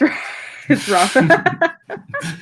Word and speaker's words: Rafa: His name rhymes with Jaffa. Oh, it's Rafa.